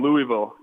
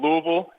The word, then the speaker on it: Louisville: come down here and pronounce it Louisville, and just to kind of stab you and say, hey, it's Louisville. And I've kind of taught myself to have that like gargle in the back of my throat whenever I'm pronouncing it,